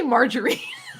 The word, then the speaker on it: margarine: Like margin, but put another syllable in there.